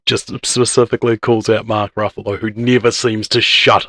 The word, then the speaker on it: Ruffalo: Ruffalo. Yes. Yeah. Ruffalo, Buffalo.